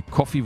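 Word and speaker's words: Ko-fi: an alle Unterstützer auf Kofi bzw coffee wird sie ausgesprochen Profi wie auch immer man es aussprechen möchte danke schön dafür und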